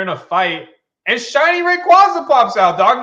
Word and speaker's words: Rayquaza: And they're in a fight, and shiny Rayquaza pops out, dog.